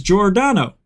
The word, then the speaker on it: Giordano: But my last name is Giordano. Oh, yeah. A lot of people can't pronounce Giordano because it's a G-I-O.